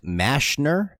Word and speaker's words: Mashner: according to you guys this guy's name is actually pronounced mashner m-a-s-h-n-e-r I don't know anyway